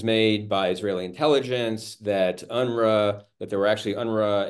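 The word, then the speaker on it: UNRWA: um war in Gaza about unra which is I think the way you pronounce the UN relief and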